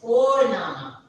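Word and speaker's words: Vorname: How we pronounce it? It is Fornama.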